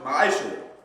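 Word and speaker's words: מעשר: Means tenth in the Hebrew and is pronounced ma'ashur.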